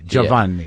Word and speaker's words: Giovanni: Giovanni. Yeah. And like you say Joe and then Vanni.